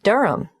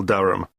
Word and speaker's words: Durham: at one uranga street durham how do you spell durham d-u-r-h of course i should know that but it's just one of those names that sounds quite different from the way you spell it it is confusing i've